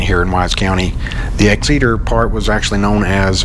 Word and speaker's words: Exeter: is finally kicked in i think it's pronounced exceeder not x exit or whatever crap i said just a minute ago but it's exceeder and we're here in